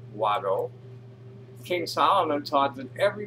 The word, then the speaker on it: Wado: Now I know to, and now I'll say Wado. Because Wado is how you say thank you in Cherokee.